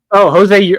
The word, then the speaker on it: Urquidy: Urquidy. Oh, Jose Urquidy. Yeah, Jose Urquidy. I thought you were talking about somebody else. Sorry. Urquidy.